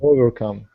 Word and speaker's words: overcome: Yeah, we have 3 syllables, and the stress falls on the third one.